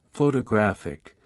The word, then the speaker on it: photographic: For example, in the word photograph, the stress is on the first syllable, while in photographic, the stress shifts to the third syllable.